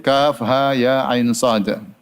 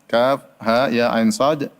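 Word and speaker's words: كهيعص: ha ya ain shod Kaf ha ya ain shod sebagaimana sering kita sampaikan ini merupakan suatu ditambahkan dengan al-huruf al-muqaththa'ah itu huruf yang terpotong-potong yang dibaca bukan sebagai katak tetapi dibaca sebagai huruf maka tidak boleh dibaca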